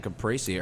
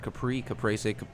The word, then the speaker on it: caprese: it's just the caprese. How do you say that word? Caprese. You say caprese. I say caprese.